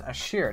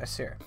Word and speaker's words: Ashir: So it's Ashir, not Asir.